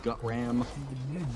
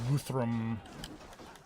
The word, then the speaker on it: Guthrum: You don't like gut ram? Guthrum. The H is silent.